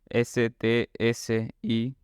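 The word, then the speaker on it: scî: En este caso, la pronunciación sería sis, o sea, tenemos que pronunciar una S, después una C, que recordemos que en Esperanto era como una TS, o sea que fonéticamente es como sis.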